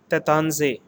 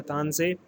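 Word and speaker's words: Taittinger: has been given and this particular letter is pronounced as tatansay again i am repeating this particular letter is pronounced as the tanzai so it is the tan say again it is fondi on 1734 so this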